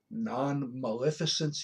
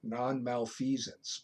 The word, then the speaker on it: non-maleficence: in other courses autonomy non-maleficence he should pronounce these correctly when I was taking my LPN courses the instructor dis butchered these call it non malfeasance but it's not there's a difference between